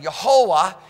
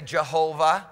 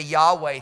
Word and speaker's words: Yehovah: Yehovah is the name that you hear people say, Jehovah, which is closer than the Yahweh thing, because the Yahweh doesn't even fit phonetically in any way, it doesn't fit.